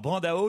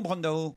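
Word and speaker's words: Brandão: Il faut prononcer en français. Autrement, c'est d'un snobisme.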